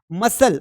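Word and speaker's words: muscle: सीधा हो जाएगा सीजर्स मसल मसल में यहां पर देखिए सी का कोई सेंस नहीं है ये म हो गया और ये एस एल इ स हो गया मसल हो गया एसेंड।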